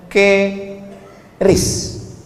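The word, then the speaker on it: QRIS: Sekarang di pintu-pintu masjid, di pintu-pintu mall ditulis ada namanya ke ris. Cara bacanya gimana sebetulnya? Keris. Q-nya quick. Quick artinya cepat. R-nya respons. Kris quick response code.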